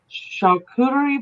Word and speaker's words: charcuterie: There was two charcuterie boards.